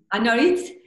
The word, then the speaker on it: Anwarit: Is it Anwarit? Anwarit. Tell us the quick story about her before we say goodbye.